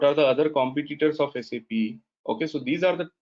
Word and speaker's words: SAP: So as I told you, it should be pronounced as SAP, no SAP, no SAP, right?